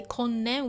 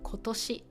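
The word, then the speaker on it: 今年: But normally, this the onyomi version, the compound version, is nen, but something like this, we don't say konnen, we say kotoshi.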